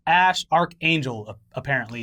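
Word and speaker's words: Æ: a12 musk or X a sh arc angel apparently if he at the 8 E thing is pronounced ash and people seem to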